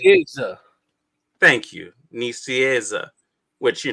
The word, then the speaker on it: Nicieza: Nicieza.